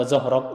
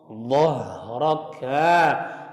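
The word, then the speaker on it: ظهرك: Jadi jangan alam nasrah laka sadrak wa wada'na anka wizrak alladzi anqadha zahrak. Ya, kan seperti alladzi anqadha dhahraka. Dhad kemudian huruf dha, setelah dhad huruf dha. Beda ya, yang anqadha dhahrak sama aja anqadha dhahrak.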